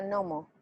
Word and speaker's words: gnomo: anuncian otra vez deberían debería de pronunciarse como hay una que antes pero se pronuncia gnomo y como ya ah